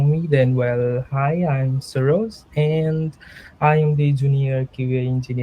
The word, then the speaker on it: Saroj: a different way so it's Saul and Rose and if you put together it just sounds like Soros so that's how my